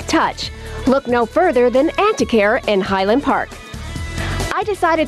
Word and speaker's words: Antiquaire: Am I pronouncing that right? Antiquaire, correct. Antiquaire, okay.